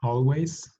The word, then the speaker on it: always: Tenemos always, usually, often, sometimes, hardly ever, and never. Una vez más para la pronunciación. Always. Empezamos el sonido como si fuera una O.